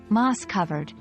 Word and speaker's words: moss-covered: we avoid phonetic transcriptions remember to stress the first syllable in moss covered moss covered the word Moss rhymes